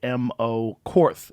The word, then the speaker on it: Heimo Korth: Heimo, Heimo Korth. That's how you say it. It's Korth. Wow.